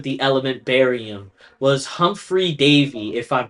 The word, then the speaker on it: Davy: Uh so the person who discovered the element barium was Humphrey Davyy if I'm pronouncing that correct in 1808.